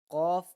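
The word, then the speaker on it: ق: When pronouncing the letter Kaaf, the back part of the tongue touches the hard palate, which is the hard part of the roof of the mouth.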